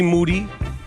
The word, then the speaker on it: Moody: in here with G Moody last name rhymes with Duty it's catching on yes